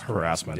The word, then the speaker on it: harassment: But certainly harassment or harassment, for those of you who don't like to say ass in the middle of a word. But that's not how the word's pronounced. It's harassment.